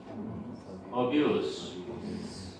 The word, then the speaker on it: abuse: abuse. 이게 즈로도 발음되고 스로도 발음돼. 수로 발음되는 건 명사, 주로 발음되는 건 동사.